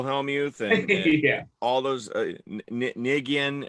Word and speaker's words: Negreanu: Like Phil Hellmuth and yeah, all those Nigian, how do you say his name? Daniel Negreanu.